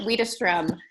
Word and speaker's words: Widerstrom: It's Jen Widerstrom.